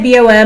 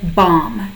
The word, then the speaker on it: BOM: how to say it some people say bom most people say bomb bomb like but not bomb bill of materials a